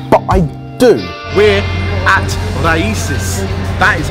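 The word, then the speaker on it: Raíces: We're at Raices. That is how you pronounce it, because I just asked that man over there.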